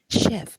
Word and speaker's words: chef: a an english word it's just a borrowed word so that's why we pronounce it the way it is pronounced in english that is shi i don't say chief chef no we we say chef so here there is